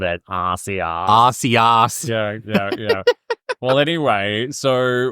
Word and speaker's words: Arceus: So how are you supposed to pronounce it? Arceus. Like, Arc is in like the highest point. Oh, I like, called it Arceus.